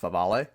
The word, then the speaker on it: Favale: Bleacher Report's Dan Favale, almost looks like Favre, but I think it's pronounced Favale, named the Grizzlies a team that could make a surprise push for the Bucks' two-time MVP.